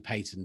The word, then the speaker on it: Payton: into in george general patton i should say just to make sure i know it's actually payton but it's funnier if you say his name is patton i'm not i've not